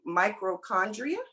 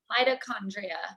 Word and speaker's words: mitochondria: that part about um i believe you pronounce it microchondria metrochondria how do you pronounce that rachel mitochondria my toe thank you my mitochondria and